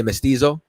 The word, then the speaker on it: mestizo: I'm how do I pronounce it? You're gonna say mestizo?